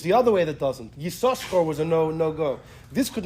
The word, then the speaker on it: Yissachar: You pronounce both chins, but you know how you pronounce it? Yissachar.